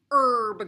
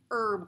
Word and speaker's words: herb: today is Miss Mertz herb garden now the herb the H here does not say its name but it's not it's not herb garden but H is silent on that herb garden and an herb